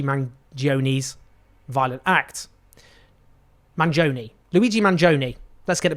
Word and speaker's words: Mangione: at to Luigi M's violent act Manon Luigi Manon let's get the pronunciation right a lot of discussion has focused